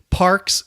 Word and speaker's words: Parx: It's just because in my head I see Parks and I think P-A-R-K-S. Yeah. And it's pronounced the same, correct?